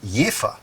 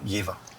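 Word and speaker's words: Jever: called Eva which comes out of the town of yifa so town and beer have the same spelling but two different pronunciations because the marketing department didn't think that the Germans wouldn't know that if you if you don't know anything about the town you would just go yeva but they're called yifa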